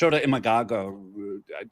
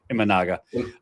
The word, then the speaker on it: Imanaga: So he's a reliever, giving them a short-term start so they can get to Shota Imagaga. I just butchered that entire name. Imanaga.